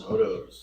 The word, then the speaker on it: Hodos: Hodos.